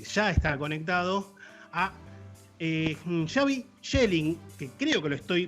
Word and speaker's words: Schelling: por supuesto, porque ya está conectado, a Xavi Schelling, que creo que lo estoy pronunciando correctamente, él me va a corregir, que